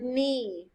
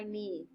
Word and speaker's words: knee: next to number two spell the word knee like my knee hurts i scraped my knee we spell knee k-n-e-e it's actually on the